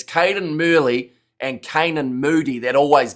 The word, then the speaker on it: Cadan Murley: I'm butchered his name, but it's Murley down the wing. See, his name it's Cadan Murley and Canaan Moody that always get me.